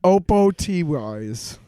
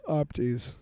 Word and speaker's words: OPOTYs: OPOTYS. I'm going to say OPTYS. Opties. The other O is silent.